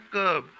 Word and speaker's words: curb: यहाँ पे स्पेलिंग तो है इसकी CURB, लेकिन आर नहीं बोला जाता है, इसको बोला जाता है कर्ब।